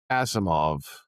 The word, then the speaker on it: Asimov: Pronounce it for me again. Asimov as in Isaac Azimov, the sci-fi writer.